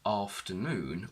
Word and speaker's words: afternoon: what does that mean if we look at the word afternoon we will see that the primary or main stress is on noon and this is shown in a dictionary by an apostrophe before the syllable that is stressed so this will appear